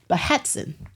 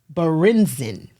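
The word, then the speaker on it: Berentzen: The German pronunciation, I wrote this down, is Behetzen. Now, you all see that it does not look like Behetzen. American pronunciation would be Berenzen, but in Germany, it would be Behetzen. That's how you would pronounce it.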